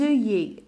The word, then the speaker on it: œillets: Alors, deux L ici, je la prononce comme comme le Y. Des œillets. Je ne prononce pas le T, je ne prononce pas la lettre S.